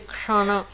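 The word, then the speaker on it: kṣaṇa: C'est difficile de prononcer parce que autant le ksha que le hana, ce sont des mots qui sont cérébrales, des sons qui sont cérébrales. Donc c'est prononcé avec la langue qui touche le palais et en faisant le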